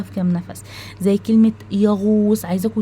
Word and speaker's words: يغوص: بننطقه في نفس واحد زي كلمه يغوص شايفين قلنا يغو وص يغو غو قلنا غو مش قلنا غا و صا لا مش قلناها كده قلنا يا غو غو الغين والواو ويغوص والصاد طيب كلمه